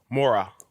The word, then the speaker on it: Morah: the land of Moria Mora that spelled mor aah H is silent more well I ask